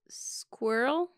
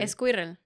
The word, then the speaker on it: squirrel: Squirrel. Did I say it right? Squirrel. And how do Spanish speakers say Esquirrel.